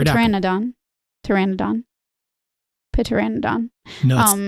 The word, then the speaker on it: Pteranodon: Pteranodon. You're right. The Pilre makes sense. P is silent. Pteranodon.